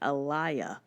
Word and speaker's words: Alea: Chris Harrison pronounced it Alaya.